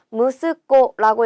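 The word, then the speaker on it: 息子: 무스코라고 읽고요. 얘는요. 무스 좀 특별하게 읽는 애예요. 그래서 꼭 기억을 해 주셔야 됩니다.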